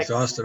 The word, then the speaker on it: exhausted: So it's pronounced exhausted. Exhausted. And thought So- about that. Exhausted. So there is like an egg sound there, right? As you said, egg sound, correct? No, it's like EGGS, exhausted, exhausted, or Z, EGGZ, exhausted. It's almost sounds like this, almost, right? EGGZ, correct? Almost.